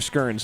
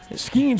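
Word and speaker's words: Skenes: I don't know if it was Skeens or Skirns. So Skeens would be a guy that, like, he is, Clayton Kershaw is an ace. I will say, in Pittsburgh, I do believe they call him Paul Skeens. Okay. That is how it's pronounced in the Steel City.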